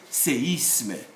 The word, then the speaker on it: séisme: But if the E bears an accent like this one, accent aigu, then this E should be heard as séisme.